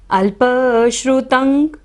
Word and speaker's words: अल्पश्रुतं: अल्पश्रुतं, श्रुतं बाद में क्या है, बिंदी है, त के ऊपर बाद में क्या है, श है, तो यहाँ पर हम बिंदी का उच्चारण अंग की तरह करेंगे। अल्पश्रुतं श्रुतवतां, ता के ऊपर